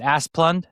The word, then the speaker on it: Asplund: Is that how you pronounce it, Asplund?